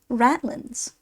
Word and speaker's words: ratlines: Ratlines, pronounced ratlins.